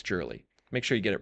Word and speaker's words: Jurley: If you guys want to follow me at NickJurley1 on X, and that's how you actually pronounce my last name is Jurley. It's not Gurley, everyone. It's Jurley.